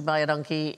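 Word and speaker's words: Baie dankie: you is welcome because it sounds like by a donkey but it's identical to the Afrikaans phrase which means thank you very much so phonetically by a donkey buy a donkey buy a donkey yeah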